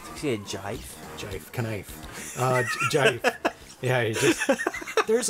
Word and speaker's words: GIF: It's a GIF. What is it, as in graphic? As in giraffe. Yes, it does stand for graphic interchange format. But the person who made GIFs, pronounced it as GIF.